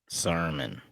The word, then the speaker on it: Sermon: But what we saw through the Pittsburgh game with Goodson and Sermon. Did I say it right? Yes. Sermon. Like a church.